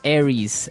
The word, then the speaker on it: Aries: And so it's pronounced Aries.